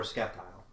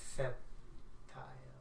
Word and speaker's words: Sceptile: Oh, it's yeah, either Decidueye or Sceptile, because I know... Sceptile. Well, actually, no, he's not. No, Blaziken's the popular for no, that. No, I mean... well, no, it's not Sceptile.